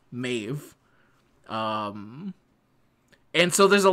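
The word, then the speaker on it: Medb: even though it's spelled me e DB it's pronounced mave um and so there's a lot of words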